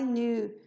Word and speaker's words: knew: passado I know I knew porque primeiro a gente não vai pronunciar o k e segundo a gente não pronuncia também o e Então na verdade a